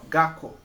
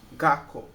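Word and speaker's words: 学校: Ó, Gakko, Gakko. Você vê que aqui tem outro tsu, né? Só que como eu falei antes, é só dobrar. Ou, então é só o na pronúncia. Então é Gakko.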